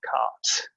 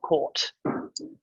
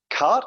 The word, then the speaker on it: quarte: look at um the parries of cart not caught um it's either spell to pronounce um cart and there are phonetic